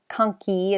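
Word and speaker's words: conchae: and then middle nasal concha or conkey is the plural so middle nasal concha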